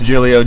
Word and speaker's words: Giglio: then we got it's Julia over here the G is silent second G what's up gang gang so it's it's Giglio GI t li o